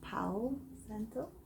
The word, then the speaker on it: Palo Santo: Now that this lovely candle is lit, we'll take a little Palo Santo. Some people might pronounce the L and call it Palo or Palo Santo.